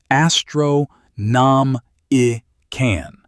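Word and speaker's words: Astronomican: Astromenican. Astro-nom-i-can. The psychic beacon on Terra.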